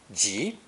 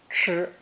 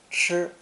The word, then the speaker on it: 吃: of this character today, pronounced first tone, 吃, 吃.